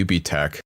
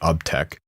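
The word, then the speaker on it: UBTech: factor and that's the UB tech I think I'll tell you pronounce it not up tech Walker I I've actually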